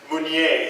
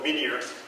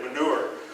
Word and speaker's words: Munier: And his name is Munier. He Americanized it, calls it Minier, because people like Jack, when they pronounce it, say manure.